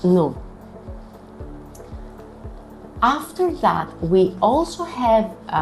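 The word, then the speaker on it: ν: Here, a common mistake is to say the small case letter nu as vu, because it looks like the V in English, but it's pronounced as nu.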